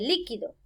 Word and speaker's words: líquido: Al ponerle tilde aquí en antes de la penúltima sílaba, esta palabra se convierte en esdrújula y ya no está hablando del verbo liquidar, sino que está hablando de líquido, algo fluido.